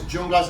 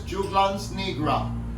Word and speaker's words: Juglans nigra: Here we go, here's this remedy, this Junglas. I actually think we're saying it wrong. I'm sure that if I look it up, I'll say it correctly. I'm waiting for it. It's Juglans nigra.